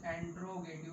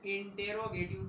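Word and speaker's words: interrogative: Next की बात करें, अगला जो हमारा सेंटेंस है इंटेरोगेटिव sentence, not यूज एंट्रोगेटिव, that's pronunciation, that pronunciation is यूज इंटेरोगेटिव sentence, इंटेरोगेटिव sentence.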